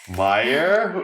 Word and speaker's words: Meyer: Meyer rhymes with Dire!